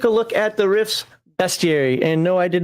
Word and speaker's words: bestiary: Is it pronounced bestiary or bestiary? It doesn't have the A in there.